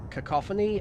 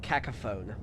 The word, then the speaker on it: cacophony: I heard someone pronounce cacophony as cacophone. Cacophony as cacophone is still the worst.